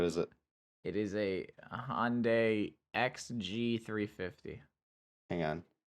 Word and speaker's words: Hyundai: It's actually pronounced Hyundai.